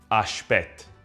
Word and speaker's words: ashpet: Ashpet, from Italian aspetta, meaning wait. The S is softened to the sh sound in Neapolitan pronunciation and the final vowel dropped.